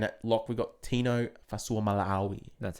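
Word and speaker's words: Fa'asuamaleaui: And at lock, we've got Tino Fasuamalawi.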